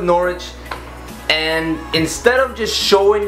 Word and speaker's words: Norwich: boom Norwich that no norch no Norwich I know a subscriber um he corrected me on how to say it so we're going with Norwich and instead of just